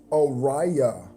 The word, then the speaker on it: Oriah: You're telling me that it's actually pronounced Oriah.